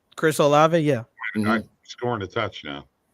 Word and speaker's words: Olave: Chris Olave, yeah.